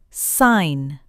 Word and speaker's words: sign: When you see G, N together, the G is usually silent. Sign.